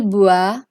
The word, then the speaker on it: boit: In case of il, elle and on, the spelling is changing. We are adding a T instead of S, but the pronunciation remains the same.